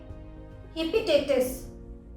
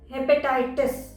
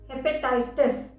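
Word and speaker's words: hepatitis: बहुत से लोग बोलते हैं हेपेटाइटिस क्योंकि इसमें TI है, पर इसका सही प्रोनाउंसिएशन है हेपेटाइटिस, हेपेटाइटिस। HE है, ही नहीं, हेपेटाइटिस।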